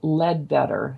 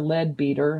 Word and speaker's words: Leadbeater: Leadbeater, L-E-A-D, Lead, and it's spelled Beater, Leadbeater. I don't know if it's pronounced that way, Leadbeater.